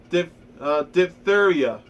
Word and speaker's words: diphtheria: All the children were vaccinated against diphtheria. I don't know how to pronounce that, but here, let me go to my pronunciation.